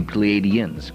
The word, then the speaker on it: Pleiadians: It would be the Pleiadians, correct?